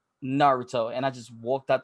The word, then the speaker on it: Naruto: And I said Naruto or something like that. He goes, it's Naruto.